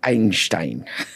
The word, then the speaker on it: Einstein: It's the German way of saying this, Einstein. That's how he would have said it. Yeah. Oh, is it? Okay. Right. Got it. Okay. We could say Einstein.